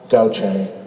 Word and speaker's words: Gautheir: It's Gautheir. So you would say, it's kind of like Gochay, Gautheir. And my voice is gone, but I can assure you it's not coronavirus, okay?